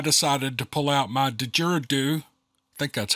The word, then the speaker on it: didgeridoo: tags and I decided to pull out my de jiridu I think that's how you pronounce that that I had required on one of my many Adventures now did the jury do didgeridoo didgeridoo that's how he said didgeridoo is a